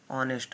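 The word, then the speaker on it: honest: है, ही इज एन ऑनेस्ट। अब देखिए यहाँ पर एन का प्रयोग क्यों किया है, क्योंकि यहाँ यच साइलेंट है, इसलिए हमने एन का प्रयोग किया है।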